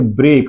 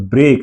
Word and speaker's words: break: ब्रेक, इट्स नॉट ब्रेकी, ब्रेक, इट्स not cubic, it's cube.